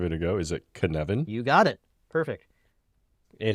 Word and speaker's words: Cynefin: Is it Cynefin? You got it. Perfect. It is Cynefin. You were very good. You can speak Welsh. Dave likes to give strange names to things. We have talked about the Cynefin framework a little bit.